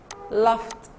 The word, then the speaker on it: laughed: Number 7, laugh, laughed, laughed, laughed. Test sound. So ed here, pronounce it test sound.